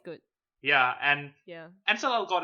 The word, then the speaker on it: Ansel Elgort: making a movie too, and it's gonna star Ansel Elgort. Ansel Elgort. Is that how you pronounce? Yeah, the guy from The Fault in Yeah.